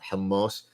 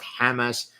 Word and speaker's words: hummus: tawuk and shawarma and hummus. It's hummus. It's hummus. It's not Hamas. It's not Hamas. It's not hummus. It's hummus. If you don't pronounce it properly, don't effing eat it.